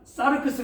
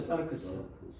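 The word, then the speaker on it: σάρξ: 보니까 사르크스 나왔어요 사르크스 사르크스이 스가 이중 몸이라 그래서 발음을 그렇게 좀 살려 줘야 돼요 사르크스 한번 따세요 사르크스 사르크스 자를 막 사르크스 하지 말고 사르크스 숫자를 이중 모으면 끝에 그 좀 약하게 사르크스 이렇게 하면 되는데 사르크스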